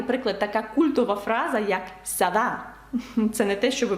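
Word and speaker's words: ça va: frс ну останній приклад така культова фраза як Сава це не те що ви подумали Сава французькою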